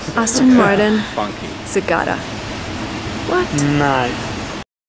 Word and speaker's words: Martin: way to do it we can take the T and make it a stop T Mart stop the Air Mart and fall to the end Martin this is the most